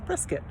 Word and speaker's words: Prescott: pronounced or it's spelled press scott but it's pronounced brisket so why how i don't know anyway so